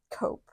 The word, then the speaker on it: Cope: This is Jon Moxley versus Adam Copeland, or as they're now calling him, Cope. I don't like it. It's a single syllable, like edge.